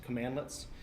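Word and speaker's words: cmdlet: That's how that's pronounced. Commandlets.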